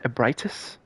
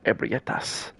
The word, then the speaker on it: Ebrietas: Augur Ebritus, or I think it's pronounced Ebritus. I remember the first time I ever heard the name was like I was watching a YouTuber and they said Ebrietas, which is cool.